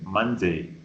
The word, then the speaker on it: Monday: Both of you say mon. It's not mon, it's man. Monday.